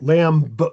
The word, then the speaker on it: lamb: And then when it comes at the end of the word even if you want to pronounce the b, if you pronounce the b you're actually adding a vowel to it. Lamb, you have to say something.